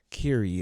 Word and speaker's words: Kyrie: road that I must oh Kiri I said Kyrie sorry Kiri is how it's pronounced and I was looking